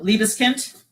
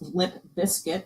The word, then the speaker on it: Liebeskind: So Liebeskind, that Hadrian always wants to pronounce lip biscuit because he knows it irritates me.